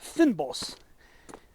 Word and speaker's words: fynbos: It's called fynbos. I think that's how you pronounce it, Fynbos.